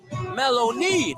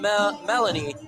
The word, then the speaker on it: Maloney: It's Maloney pronounced. Maloney, not Melanie.